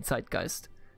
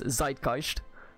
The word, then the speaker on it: Zeitgeist: philosophy to the American zeitgeist. Yes, by the way, a lot of Anglos pronounce this zeitgeist, but it's actually zeitgeist. The Z in German is it's a TS sound.